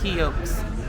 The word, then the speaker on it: Hieu: and so comfortable well the pronunciation for this place is heok seafood boil um and the food